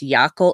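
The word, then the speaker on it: Jaakko: chat - yeah that's that's the finish spelling which would actually be pronounced well actually I think the finish spelling is J a K Kol its Yakko it's basically the finished version of Jackson you know like one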